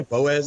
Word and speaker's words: Boaz: Yeah, Boaz, Alabama.